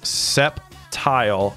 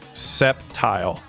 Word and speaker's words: Sceptile: uh you know Vibe it's not pronounced septile it's Sceptile foreign I remember